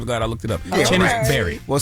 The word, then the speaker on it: Chennis: Chennis. I thought it just say Chenise. That's why I'm glad I looked it up. Chennis Barry.